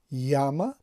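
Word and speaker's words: яма: یاما همان گونه که میبینید زده در بالای هیجای اول یا افتاده است و به همین دلیل هم یاما تلفظ میشد، یعنی هیجای اول بلند تلفظ میشد. نمیگوییم که یاما، ما میگیم یاما در زبان روسی.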